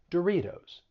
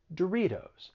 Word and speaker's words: Doritos: flat t it sounds like a soft d doritos doritos you also hear the flat tea in other